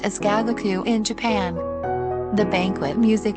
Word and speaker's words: gagaku: the character gagaku means giant you but is pronounced as gagaku in japan the banquet music yenyu was transferred